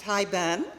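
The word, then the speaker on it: haibun: Okay, it is pronounced Hi Ben.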